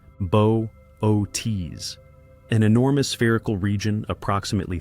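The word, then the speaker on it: Boötes: became known as the buus void pronounced bootes an enormous spherical region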